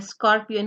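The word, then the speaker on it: scorpion: Silent क्यों नहीं है, तो जिसमें ए ओ यू हो, जिसमें ए ओ यू इस्तेमाल हो रहा हो एस सी के बाद, तो you will utter the sound of सी एज क, scar, Scott, स्कूट एंड स्कॉर्पियन। अच्छा जी, इस तरह के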